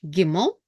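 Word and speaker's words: גימל: is BET vet uh next letter is giml and you guessed right if you said that it pronounced as G as in girl so so uh it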